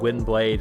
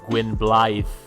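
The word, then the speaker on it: Gwynbleidd: and tell you that it's not wind blade that's just the way they pronounce it wrong in the games it's the welsh uh it's the welsh gwyn blythe which means uh white wolf but they say gwen blade they're filthy english plebs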